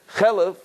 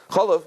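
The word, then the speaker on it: חלב: has to be written and has to be pronounced chalev, right? Chalev and not chalev.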